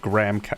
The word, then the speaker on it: graham: I don't even know what a graham cracker is. Also, I know it's pronounced, at least in American English, it's pronounced graham cracker. But like to me as an Australian, that's always Graham.